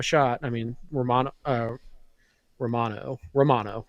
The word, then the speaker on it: Romano: I mean uh Romano Romano right that's how they pronounced it was Ray mono um you know I